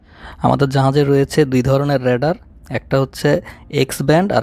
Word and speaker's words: রাডার: এই যে আমার পেছনে যে দেখছেন দুইটি জিনিস ঘুরছে, এগুলো হচ্ছে রেডার। যদিও বা আমরা রাডার নামেই চিনি, কিন্তু এটা সঠিক উচ্চারণ হচ্ছে রেডার।